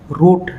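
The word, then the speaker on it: wrote: P rape W silent রুট ডবলিউ আর ওটিই রুট W silent ঠিক আছে বন্ধুগণ তার পিছম আমি এমবির ম উচ্চারণ হব্দরখ এমবি থাকিলে বি সাইলেন্ট হয়।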